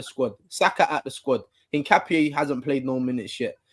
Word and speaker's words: Hincapié: Hincapié. Hincapié.